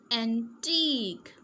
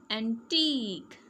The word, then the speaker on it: antique: brochure machine machine Q U E sounds like k. Okay, so will we pronounce this? antique Say with me. antique unique unique mosque mosque picturesque picturesque Okay?